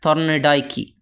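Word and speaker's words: Thorndike: वो कहा जाता है थॉर्नडाइकी। थॉर्नडाइकी भी कह सकते हैं, थॉर्नडाइके भी कहते हैं कुछ लोग, प्रोनाउंसिएशन में फ़र्क होता है।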